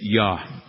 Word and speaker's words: ja: If you're going to say yes in German, you say ja, but it's spelled J-A. All right? J-A is Yah.